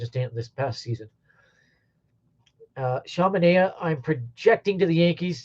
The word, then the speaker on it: Manaea: And that's how I pronounce Manaea. You cannot have and I from the same letter, the same name. It's Manaea.